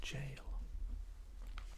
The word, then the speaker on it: Gaol: It's the old English form, but it's still pronounced jail.